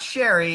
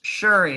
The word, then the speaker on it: Shuri: I think it's not Sherry, it's Shuri, and I want to